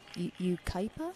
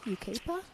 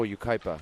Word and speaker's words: Yucaipa: you say hit where he's from I say it wrong Yucaipa you keep her oh Yucaipa yukaipa I know I was like you corrected me before and I was like I couldn't remember what it was Yucaipa California so both SoCal